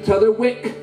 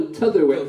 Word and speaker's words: T'otherwick: Then we add a new policeman, T'other Wick. T'other, no, T'otherwick. Last three syllables, right?